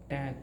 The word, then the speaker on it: Tag: A and G, but in German the G, whenever the word is ending with letter G, the letter G's sound becomes K, right? So here T, A, G becomes T, A, K.